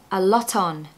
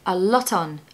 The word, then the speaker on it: lot: pronunciation tip for this make sure you pronounce the T on the end of lot because it will allow you to blend that word into the next one so a lot on it should sound like